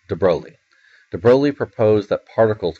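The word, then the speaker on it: de Broglie: Lou de broi and that it's how pronounced it's not de brogi de brog it's de broi de broi proposed that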